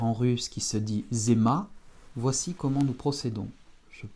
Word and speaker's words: зима: réduit pas en russe, donc on prononcera zima, en insistant bien sur le ma. Это zima. Encore une fois, Z, I, mon M et mon A. Это зима.